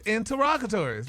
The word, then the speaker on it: interrogatories: but it's You don't pronounce all of them, though. Yeah, interrogatories. It's interrogatories, right?